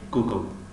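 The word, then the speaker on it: Google: و مثل کلمه دور دور دور دور در، مثل کلمه گوگل گوگل با دو حرفی او نوشته می شود. گوگل نمیگیم، گوگل میگیم گوگل.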